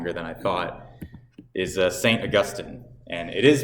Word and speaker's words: Augustine: But that's because we are descendant from Augustine. All right, mispronounced. Augustine.